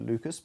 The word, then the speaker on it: Lucas: yang bernama Edward Lucas Walaupun dia orang Perancis, cara bacanya 'Lu-cah', tapi aku akan menyebutnya 'Lucas' karena aku malas dan, bila bukan karena